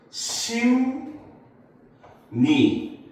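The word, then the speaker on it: 십리: 자, 얘를 발음을 하면 어떻게 되냐면, 심, 니, 이렇게 둘 다 변해서 발음이 나요.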